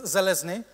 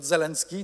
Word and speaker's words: Zelezny: It's Zelezny, not Zelensky, not Zeleny. But Zelezny, it's difficult surname, only my mom can spell it.